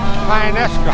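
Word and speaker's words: Tionesta: We're on German Hill Road out of Tynesta.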